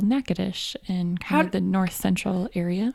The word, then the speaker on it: Natchitoches: like the Natchitoches meat pie bless you yeah naca dish so being from Louisiana there's a town called neck adesh in the north central area how do you